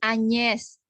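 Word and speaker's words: Agnès: Kalau ada huruf J dan N, ya, ada G dan N dibacanya nye, ya, nye. Jadi J dan N itu kalau dalam bahasa Perancis seperti bunyi nye dalam bahasa Indonesia, ya.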